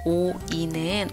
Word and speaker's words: 오이: 오이는 오리하고 굉장히 비슷해 보이지만 오이 오이. 리 발음 아니고 이로 됩니다.